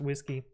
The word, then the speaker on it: WSGI: It was intentionally chose as that initialism so that it's pronounced whiskey, but yeah.